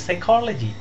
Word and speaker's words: psychology: You can also look at the word psychology. Starts with P when you write it down, but there is no P in the pronunciation.